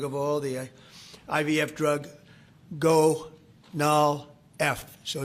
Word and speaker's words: Gonal-F: most popular drug of all, the IVF drug, Gonal-F. So it's Gonal-F. Is that a proper pronunciation?